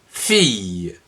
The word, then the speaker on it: fille: il l e le que l'on prononce fille une fille et un